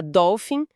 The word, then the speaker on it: dolphin: A combinação pH em inglês quase sempre vai ter o som f. Geralmente vem de palavras com origem grega que entraram no inglês. E aqui de novo, a sílaba tônica é a primeira doll. Tem o L presente, depois esse som de fal bem claro também.